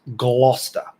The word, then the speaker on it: Gloucester: But it's properly pronounced Gloucester. There you go.